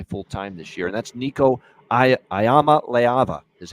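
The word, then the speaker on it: Nico Iamaleava: number one guy fulltime this year and that's niik a ayama leava is how you say it niik ayama leava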